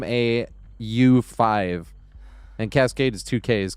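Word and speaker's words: Kaskade: But Dead Mouse is spelled D E A D M A U5. And Cascade is two K's.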